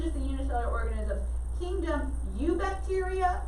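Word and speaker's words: Eubacteria: the unicellular organisms kingdom you bacteria the e is silent so i know it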